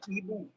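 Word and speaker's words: hibou: H is not pronounced in French. Okay. So it is Ibu.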